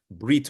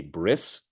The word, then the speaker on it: Brit: Jewish life cycle as B'rit Milah. It really is a bit of an abbreviation to refer to the ceremony as a bris. Bris simply is the Ashkenazi or Yiddish pronunciation of Brit.